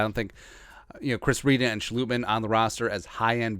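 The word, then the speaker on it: Schlottmann: Yeah, Chris Reed and Austin Schlutman, the Dutch pronunciation.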